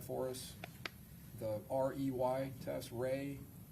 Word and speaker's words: Rey: There's also a visual spatial ability test and I'm going to have you explain or pronounce that for us. The REY test, Ray, the Ray Astrich complex figure test.